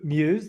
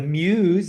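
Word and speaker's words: Mews: Uh, The Muse is actually just a few blocks away. That's spelled mess. A lot of people think it's mus, which is fine with me, but uh, the locations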